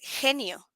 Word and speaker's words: genio: When we have the G next to an E or an I, it's pronounced like a sound. Huh? So in this case, it's gato, but this one is genio.